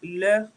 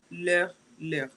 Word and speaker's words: leur: And lastly, il, elle means their, is leur, leur. The same pronunciation. All right? The exact same pronunciation.